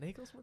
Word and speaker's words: Nagelsmann: Nagelsmann.